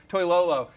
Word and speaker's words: Toilolo: Am I saying Close that enough, pronounced? yeah. Close Toilolo, enough. yes. Toilolo.